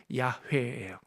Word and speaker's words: 야훼: 어떤 발음이 좀 더 정확할까라고 음성학자들, 히브리 언어학자들이 연구했는데 그 발음이 야훼예요. 야훼. 그래서 근데 이걸 100%라고 말할 수 없어요. 99%라도 함부로. 그냥 많은 학자들은 여호와 하나님의 오리지널 발음은 야훼였을 것이다 이렇게 보고요.